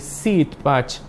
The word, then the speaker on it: Sitpach: Sin embargo, pues esta pronunciación se mantiene con una pequeña modificación que sería la I larga para decir Sitpach, sembradío de carrizos o un lugar donde se plantan los carrizos.